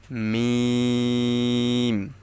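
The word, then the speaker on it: ميم: করতে পারেন লাম লাম মিম মিমের উচ্চারণটা হচ্ছে দুই ঠোঁটের শুকনা জায়গা হইতে যেমন বা এর উচ্চারণটা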